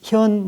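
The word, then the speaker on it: 見: 그럴 때는 현 무슨 왕, 무슨 임금을 찾아 뵈었다. 어떤 사람이 가서 보여드린 것이지 본 것이 아니죠. 그래서 현이라고 발음을 합니다.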